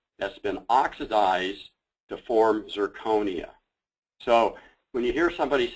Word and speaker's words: zirconia: start with nomenclature uh it's amazing how many people say it wrong including myself what we're talking about is zirconia okay it's an oxide